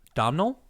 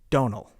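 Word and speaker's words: Domhnall: do you pronounce d-o-m-h-n-a-l-l abdominal you're you're good you're close but it's actually Donal Donal Donal no M take the M out I don't know why you even put it in there they're missing they're cutting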